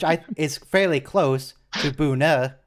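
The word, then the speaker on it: Buhne: some people pronounce it booner with an r which i is fairly close to buna which is how it's pronounced in german i think people just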